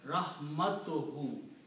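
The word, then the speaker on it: رحمته: you combine these two, you do not pronounce two dhammas, it becomes rahmatuhu.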